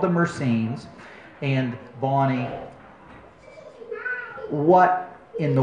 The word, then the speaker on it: Mercenes: And I, a number of people, to me it's obvious, you see the name and people, it should be pronounced Mercenes, but a lot of people look at that name and they ask themselves, I wonder how you pronounce it.